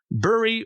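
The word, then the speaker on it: Búri: free the first God Buri or bori depending on your translation because he was in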